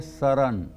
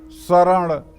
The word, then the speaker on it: सरण: को लिखा हुआ है सरण अब आप अगर यह सोचे कि नहीं मैं शुद्ध पढ़ूंगा चरण शरण हरण गलत हो जाएगा वो स्वामी जी ने शरण चरण हरण लिखा है यही पढ़िए हनुमान में स की